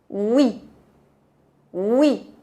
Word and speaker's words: oui: Para a palavra oui, é como se você quer pronunciar as letras U e bem rapidinho. Oui, oui.